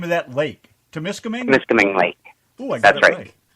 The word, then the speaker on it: Temiskaming: How do you pronounce the name of that lake? Temiskaming? Temiskaming Lake.